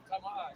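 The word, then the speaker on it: טמא: Tama'ah. Tama'ah. There you go. That's it. You got it, bro. Go ahead. The definition is I'll read. I got it. Yeah, it's the Hebrew word tama'ah.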